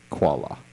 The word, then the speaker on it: Qualla: to spell that and it is not like the bear it's quu a l l a quala not a k not a k not